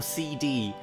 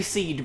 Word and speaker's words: SeeD: prompt people to ask, is it pronounced seed or CD? It's like, it's obviously seed because the seed's in a garden.